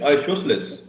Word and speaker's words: isosceles: Sir, isoscale right angle. Sir, isosceles. Correct pronunciation is isosceles.